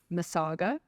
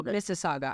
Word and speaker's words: Mississauga: a Hilton in um masaga masaga what province is that that's in Ontario it's Ontario no Mississauga I'm Sorry Miss pronounced oh my gosh my